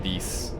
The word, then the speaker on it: dix: Ten is pronounced dis.